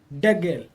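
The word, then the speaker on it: דגל: The rule is if we have two short vowels, then Degel. the syllable, right, the syllable before the last syllable is accented.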